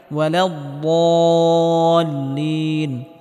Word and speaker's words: ولا الضالين: আলাইহিম ওয়ালাদ্দাল্লিন, এখানে বদটিকে মোটা করে উচ্চারণ করতে হবে এবং হালকা আওয়াজ জারি রেখে উচ্চারণ করতে হবে।